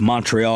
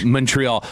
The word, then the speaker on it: Montreal: Oh, he's saying like M-U-N. Yeah, Montreal.